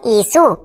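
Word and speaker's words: issue: ইউ ই যেহেতু শব্দের শেষে আছে তাই এর জন্য হস্যকার, তার মানে ইস্যু। কিন্তু অনেকেই এই ওয়ার্ডটাকে ভুল উচ্চারণ করছো, ইস্যু, ইস্যু কিন্তু হবে না।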